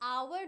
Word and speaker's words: hour: ये प्लीज याद रखना, क्योंकि आवर जो होता है ना, वो लिखते हो तुम HOUR, बट वो साउंड होता है okay, you don't pronounce H.